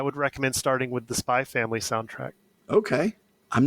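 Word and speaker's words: Spy × Family: recommend starting with the Spy Family soundtrack. Okay. I'm not familiar with the Spy Family. If you spell it out, it's Spy X Family, but you don't pronounce the X.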